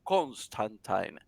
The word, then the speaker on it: Constantine: Su nombre es John Constantine, según la pronunciación también del mismo Alan Moore, que fue su verdadero creador, era John Constantine.